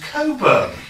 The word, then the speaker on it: Cockburn: me his address, but he says his name's Coburn, and it isn't. And I said, if your name was Cockburn, my dear, how would you pronounce it?